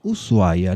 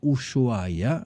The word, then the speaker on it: Ushuaia: Cuando escuchamos el nombre Ushuaia, que es como llamamos a esta ciudad en Argentina pronunciamos Ushuaia, no Ushuaia, aunque se escribe con SH, muchas personas piensan inmediatamente en una idea muy clara.